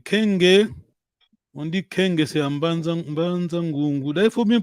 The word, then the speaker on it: Mbanza Ngungu: Faut pas prononcer comme les Français. Mbanza Ngungu.